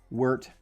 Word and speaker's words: wort: And for some reason I really want to say world hops. So I I had to say it slowly or I'm going to I'm going to say it wrong.